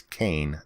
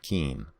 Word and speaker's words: Kean: case at Kean University which apparently I mispronounced it's Kane not keen in that case a